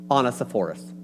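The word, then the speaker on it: Onesiphorus: miss Vanessa for on honest a forest honest the forest that's it honest honest the forest that is the per that is the correct pronunciation this is the only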